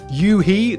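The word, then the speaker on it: u-he: Yuhe, that's U-H-E, I think that's how you say it, have some really nice free synths.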